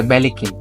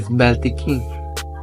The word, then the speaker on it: Belikin: Because of the wrong pronunciation, a lot of people, they will say Belikin. But original, it is Beltikin, meaning rose to the sun.